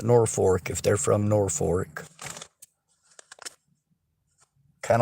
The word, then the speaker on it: Norfolk: of like in Nebraska most people don't call it Norfolk they call it Norfork if they're from Norfork